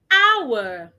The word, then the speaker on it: hour: hour 24 hours make a day.